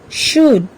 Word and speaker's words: should: থাকে শব্দবিলাক হ'ল কাম here L is silent palm half walk talk should good what have you seen in these words here also L remains silent calf chalk fork almond in